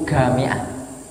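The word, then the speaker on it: جامعة: Di sana kalau bilang jamiah, universitas itu gamiah.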